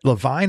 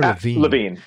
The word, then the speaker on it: Lavigne: Is that Lavigne or Lavigne? Lavigne. Why does she spell it like that? This fucks people up. You got French?